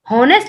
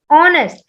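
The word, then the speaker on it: honest: Like आपने ये word सुना होगा ऑनेस्ट, तो अब हॉनेस्ट नहीं हुआ, this is ऑनेस्ट, एच is silent, so will pronounce the word from ओ, ठीक है, ऑनेस्ट, so will use एन ऑनेस्ट man, correct.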